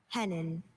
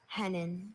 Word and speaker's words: hennin: Hennin. Hennin. Are there any alter pronunciations? I have just hennen.